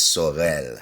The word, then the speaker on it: Saurel: My name is Sel.